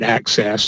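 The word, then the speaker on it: AHCCCS: care cost containment system we've refer to that as access and pronounce it access the long term care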